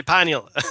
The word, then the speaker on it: pineal: We can say pineal or I could say pineal and you can say pineal, you know, tomato, tomato, potato, potato. It doesn't matter.